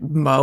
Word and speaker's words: moe: What is the English way to pronounce it? Mo? Like Mo, like the character from The Simpsons.